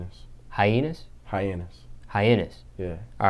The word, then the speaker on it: Hyannis: give me a tour of how do you pronounce it high toown high toown no that's not the real name what's the real name hus hyenas hyenas hyenes yeah all right give me a